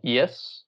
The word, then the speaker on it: Ys: There's a series called Yis, which is spelled like Y-S.